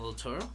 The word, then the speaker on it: del Toro: I still can't pronounce his last name. Guillermo del Toro.